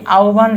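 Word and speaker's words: আহ্বান: রস্য ভ এর মত এখন এই আওবান শব্দে হব এর আগে কি আছে ওবা আছে তাহলে এই উচ্চারণ কি হবে ওভ হবে কি হবে ওভ এটা উচ্চারণ কি হবে আভ ঠিক তেমনি হব ব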